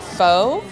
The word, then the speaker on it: Pho: it's pronounced f f so you bring it down and then you kind of bring it up so it's F the